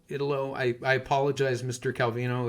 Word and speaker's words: Italo: this was by uh Ito uh I always mispronounce his first name calino anyway Italo Italo I I apologize Mr